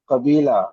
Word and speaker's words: قبيلة: We have to know how to pronounce it. Listen, قبيلة. Kabila, okay.